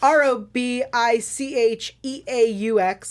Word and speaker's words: Robicheaux: Grant, I don't know how to say his last name, Robichaux. Yep, it's Robicheaux.